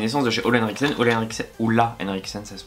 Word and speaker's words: Ole Henriksen: Du coup la barrière booster orange ferment essence, donc c'est une essence de chez Ole Henriksen, Ola Henriksen ça se prononce.